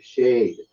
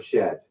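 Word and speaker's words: שד: But what we do get is the Hebrew word shade, or shed, or shedeh, depending on how you want to pronounce that, which means a demon spirit.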